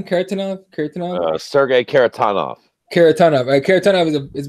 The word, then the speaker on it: Kharitonov: Kharitonov, is that how you say it? Kharitonov, yeah.